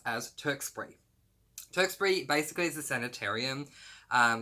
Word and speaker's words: Tewkesbury: But where they end up going is this place that I could be pronouncing this incorrectly, but I pronounce as Tewkesbury.